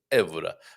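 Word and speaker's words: Évora: And yes, Carl, second to last syllable stressed, unless an accent mark.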